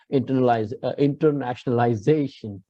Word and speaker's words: internationalization: So you need to put stress on the penultimate, the second last syllable. You got this? Internationalization.